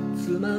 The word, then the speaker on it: 都万: 郎作曲の妻の秋トマンと書いて妻と読む、本気と書いてマジと読む妻の秋。